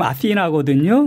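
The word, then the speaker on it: Αθήνα: 현대 발음은요 지금 아시나거든요. 그래서 한글로 쓰면 아시나라고 쓰는 게 제일 가깝습니다.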